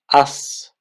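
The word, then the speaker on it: аз: pay more attention of how I pronounce the Z when it is at the end of the word. So first here up here we have za, but here we have as.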